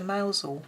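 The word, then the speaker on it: Mousehole: remember yeah cuz we tried to go to mousel that's in called or mouse hole as it's spelled but we couldn't find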